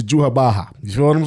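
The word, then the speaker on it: Yhwach: And I don't know why they spelled it YWACH, but it pronounces to Juhabaha.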